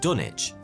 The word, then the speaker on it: Dunwich: of trade like dunwich as for why the w is now silent well that's just because